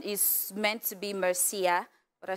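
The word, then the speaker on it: Mersea: talk about um your so your name is is pronounced merci well it is spelled differently yeah m-e-r-s-e-a so it's a real name Mercy yeah okay so why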